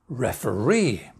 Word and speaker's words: referee: The answer is referee.